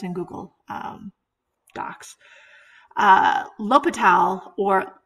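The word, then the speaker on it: L'Hôpital: little history included on l'hopital with i couldn't make that little symbol because that's in google um docs uh l'hopital or la hospital which is pronounced l'hopital's um about the spelling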